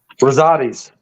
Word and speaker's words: Rosati's: Pronounce that so I don't butcher it. Rosati's.